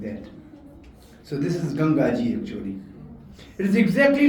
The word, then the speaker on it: Gangaji: It is exactly like the water of Ganges. Actually, the word is Gangaji. But British could not pronounce Gangaji, they said Ganges. So we still say Genji. It should be Gangaji.